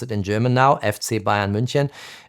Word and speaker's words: FC Bayern München: I pronounce it in German now, FC Bayern München.